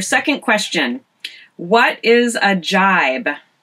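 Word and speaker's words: gybe: All right, a jibe. And this word is spelled G-Y-B-E.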